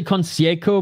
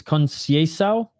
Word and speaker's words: Conceição: I want to say Conceico, but I'm pretty sure it's Conceição.